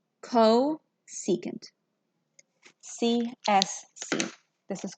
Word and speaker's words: cosecant: And this is called cosecant. CSC. This is called cosecant.